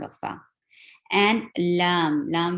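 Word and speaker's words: لام: And lam will be 6 haraka long too, because there are 3 letters involved to pronounce the name of this letter.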